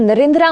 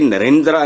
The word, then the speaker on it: नरेंद्र: जो आपने किया है नरेंद्रा मोदी यह सेमा साइलेंट होता है जो ए होता है मतलब आपने कभी सुना है किसी से हिंदुस्तान में धर्मेंद्र धर्मेंद्र ये इसको इस तरह पखत के नरेंद्रा नहीं इट इज नरेंद्र हल्का सा हम और धर्मेंद्र जितेंद्र